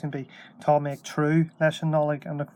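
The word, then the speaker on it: tnúth: And you notice the N there, that's pronounced like an R. So it's true, even, that's what it looks like. It doesn't look like it, but it's true.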